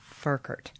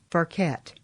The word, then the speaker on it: Ferket: Her name is Furkert and she's lived No, I mispronounced that, didn't I? It's Furquette, right? That's right.